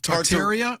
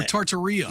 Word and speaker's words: Tartaria: I've heard it pronounced two ways. So, uh, Tartaria or Tartaria.